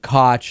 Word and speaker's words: Koch: we are talking about a kind of Americanized pronunciation of the Coke brothers uh and some some other people with the same spelling of their last name pronounce it cotch and so on and